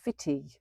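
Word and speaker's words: Footdee: And I'd read about this little hidden gem in Advine called Fitty, which is how it's pronounced.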